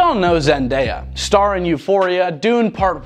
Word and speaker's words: Zendaya: The Shona term Tendai, which means to give thanks, is the source of Zendaya's name, which is pronounced Zendaya.